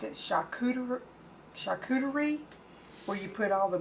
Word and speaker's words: charcuterie: these wonderful cheese boards or i think you pronounce it shakur charcuterie where you put all the meats and the